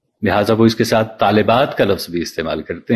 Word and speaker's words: طالبات: کی جمع طالبات ہے، لیکن اردو میں طالبات میں لام کے نیچے زیر بالعموم نہیں پڑھا جاتا اور یہاں بھی لام کو ساکن کر دیا جاتا ہے، تو اس سے بھی تلفظ غلط ہو جاتا ہے.